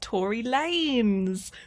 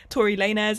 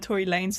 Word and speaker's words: Tory Lanez: day after I filmed this that it's actually pronounced Tory Lanez. Wow, I had no idea. I never listened to his music anyway, but yeah, no, so I say Tory Lanez instead of Tory Lanez this entire video, which is an extremely embarrassing